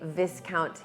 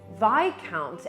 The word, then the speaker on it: Viscount: sort of disbelief saying why would it be vi count and not this count when it's spelled exactly like discount right so he then